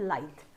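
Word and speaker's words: lithe: द spelling is this L आई टी एच ई बट इट is pronounced as लाइथ लाइथ का मतलब है slender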